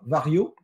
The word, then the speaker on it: Varjo: Ensuite, on va venir sur les annonces de Vario, qui s'écrit Varjo.